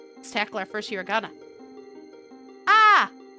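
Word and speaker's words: あ: Ah is always pronounced like an ah, or the A in the word father.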